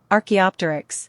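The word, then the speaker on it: Archaeopteryx: Arcto ar how do you pronounce this word? Archaeopterics.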